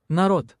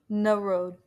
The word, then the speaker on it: Народ: This is how you pronounce it. Народ, народ, народ, народ. Narod.